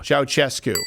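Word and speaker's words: Ceaușescu: Ceausescu.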